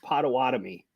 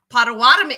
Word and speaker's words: Potawatomi: I think it's actually pronounced Potawatomi. Potawatomi.